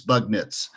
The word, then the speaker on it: Bugnitz: Well, as the gate agent at United once said, it's pronounced just like it sounds. Okay, which I thought was a good way to say it. But it's just read it, Dan. It's Bugnitz.